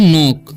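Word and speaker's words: knock: और इसे पढ़ते हैं नॉक, क्योंकि यहाँ पर भी के साइलेंट है, तो इसे हम नॉक पढ़ते हैं, ठीक है।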